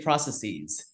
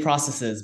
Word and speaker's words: processes: Well, okay, so a lot of people say processes. I would say processes, but like, yes, most Americans say processes. Yeah. And I teach this to my students, actually, because I'm like, Americans say this usually, processes, although I personally will say processes because I think that's the, you know, how it should be.